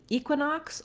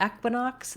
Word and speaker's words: equinox: when we get to equinox or equinox there are two correct pronunciations so either equinox with the tense e sound or you can use the e vowel like in red equinox or equinox both pronunciations